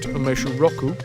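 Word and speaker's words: 梅酒ロック: Umeshu on the rocks. Pronounced umeshu roku.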